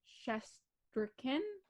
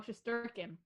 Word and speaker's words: Shesterkin: Shesterkin. The emphasis on the wrong syllable. Really? Shesterkin. Oh, Shesterkin.